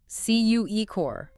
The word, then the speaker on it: Cukor: He had a powerful sense of identity and insisted everyone pronounce his name correctly. Cukor.